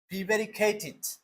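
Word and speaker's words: prevaricated: Rafi subject, Rafi প্রিভ্যারিকেটেড, যেহেতু এখানে লাস্টে টি আছে, উচ্চারণটা কি হবে? ইট।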